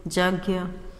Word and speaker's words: यज्ञ: ज्ञ इसको बोलते हैं ज्ञ, यज्ञ बहुत लोग यज्ञ बोलते हैं, यज्ञ। तो यज्ञ, ज और इय, इय का उच्चारण नाक से होता है, नासिका से।